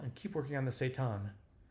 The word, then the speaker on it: seitan: I adjust my half-marathon medal and keep working on the seitan, pronounced similarly to Satan.